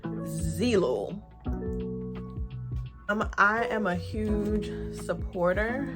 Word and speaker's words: Zeelool: did a partnership with zelul am i pronouncing i should know how to pronounce who i'm doing a partnership with if i'm pronouncing it based off of the spelling it's zeelo i am a huge